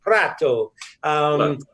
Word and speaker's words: Prato: in the north look at a tone like Prato and it's pronounced product prat Oh a city in the north textile manufacturing city